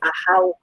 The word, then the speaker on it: Ahau: yeah, it's a Mayan word, so with a Spanish pronunciation.